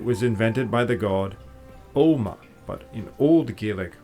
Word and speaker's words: Ogma: Now in myth it was invented by the god Oma, but in Old Gaelic pronounced Ogma, who was its father, while the chisel used for the inscription was its mother.